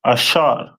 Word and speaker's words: Asher: Colombia to Uruguay uh and their name is pronounced in Hebrew as asher a which ashar which means happy and the symbol is a royal dainties.